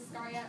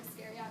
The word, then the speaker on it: Iscariot: a new character, and his name is Iscariot, or Iscariot, whichever way you want to pronounce it.